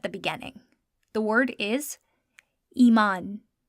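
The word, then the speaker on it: ایمان: The word is iman. Iman. Again, whenever the long vowel sound is at the beginning, we're going to use the letter aleph to help us create that sound.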